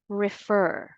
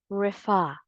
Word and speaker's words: refer: refer again the correct pronunciation of this word is refer or refa the second syllable is stressed not the first let's take a look